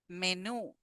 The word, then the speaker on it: menú: Menú. So here we have the accent or the stress, sorry, in the last syllable.